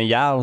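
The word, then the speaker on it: Jarl: Des fois, c'est comme un Yarl. Ça s'écrit avec un J, mais ça se prononce Yarl, tu sais.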